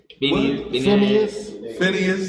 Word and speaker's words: Phinehas: And when Phinehas, I pronounce it the same way. Phineas.